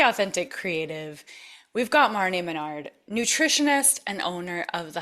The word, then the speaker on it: Minard: So, Marne Manard, did I say it right?